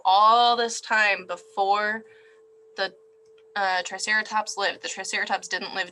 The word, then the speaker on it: Triceratops: And pronounced Triceratops, their name comes from a combination of the Greek syllables tri, meaning 3, keras, which means horn, and ops, which means face.